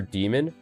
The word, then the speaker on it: daemon: So, demon, the original word for demon, is a diphthong in Latin, right? It's D-A-E-M-O-N, but it's pronounced demon. Or, well, in Latin, it would be diamond. But in English, it's demon, right?